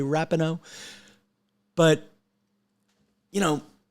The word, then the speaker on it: Megan Rapinoe: this again for four more years and Megan rapino rupino God damn it this would be such a better podcast if I knew how to say her name right Rapido you say rupino I say Rapinoe but you know how do you take big